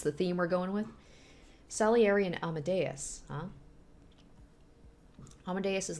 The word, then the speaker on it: Salieri: Salary. Salary? That's probably not how you pronounce it. Salieri? Salieri? Salieri? I'm guessing because Antonio Salieri.